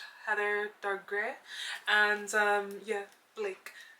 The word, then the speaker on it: Blake: And yeah, Blake, not black, okay, I said it right.